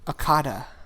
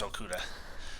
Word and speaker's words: Okudah: How do you pronounce it? I like to say Okudah. I think it's Okudah.